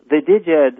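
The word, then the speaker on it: Djed: Like, you know, the Diged, or I don't know how you pronounce that, because I just learned Jed, like Jedi, you know, like George Lucas, Return of the Jedi.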